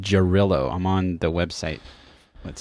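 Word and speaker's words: Jarrylo: That's how it's pronounced. Jarillo.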